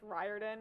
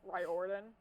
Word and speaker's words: Riordan: uh Rick Riordan sorry still get his name wrong after finding out that it's Riordan instead of Riordan Percy Jackson and the